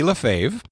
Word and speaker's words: Lefebvre: So this is from Jackie LaFave. Jackie's last name is spelled different than it's pronounced. And so Very It's spelled like Lafarve. R in it, yeah.